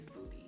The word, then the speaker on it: Budy: that um knew me i probably referred to me as the buddy but in all honesty the pronunciation is booty i am a braider